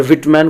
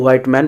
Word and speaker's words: Whitman: अगर व्हिटमैन को व्हाइटमैन पढ़ते हैं तो भी प्रोनाउंसिएशन सही है।